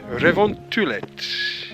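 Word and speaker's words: revontulet: northern lights in finnish which i think is revontullet yeah yes did i pronounce it badly no not badly but not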